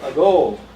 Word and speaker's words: ago: Also, ago. Second syllable is a strong one, so the first one is weak.